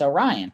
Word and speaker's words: Orion: And I said, it's Orion. I said, it's just like the constellation.